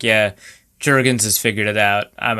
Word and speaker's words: Jurgens: First, is it pronounced Jurgens or Jurgens? Jurgens.